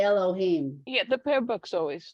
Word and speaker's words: Elohim: um okay I said whatever you want to pronounce it it's okay with me but it's a book yeah you should say Elohim yeah the pair book's always no it's just